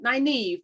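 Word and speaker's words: Nynaeve: her in because that's all right say it pronounce it i could do that naive there you go yeah she is a she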